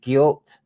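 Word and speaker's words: gilt: which as you know they call them the guilt Market it's g-i-l-t guilt think I'm pronouncing it right Market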